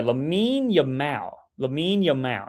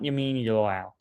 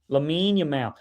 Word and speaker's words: Lamine Yamal: Yeah, Lamine Yamal, not Yamin Yamal. Lamine Yamal.